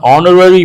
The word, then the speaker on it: honorary: It is an honorary post. You should not say honorary. H is silent.